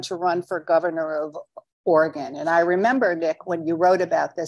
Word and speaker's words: Oregon: organ right I'm told Nick two syllables for for it's not Oregon it's Oregon so he grew up